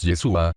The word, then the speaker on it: Yeshua: vosotros os que callados la palabra hebrea para salvación es yeshua con el acento en la a el nombre del mesías es yeshua con acento en la u queé significa Salvador o